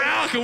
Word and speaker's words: Alukah: It's pronounced Alukah because we fucking suck at grammar and spelling.